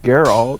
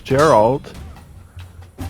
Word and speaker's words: Geralt: Oh, it's pronounced Geralt. I thought it was Gerald.